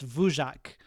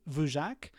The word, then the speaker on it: Dvorak: created by a guy whose name I think is pronounced vac d v o r a k and that became the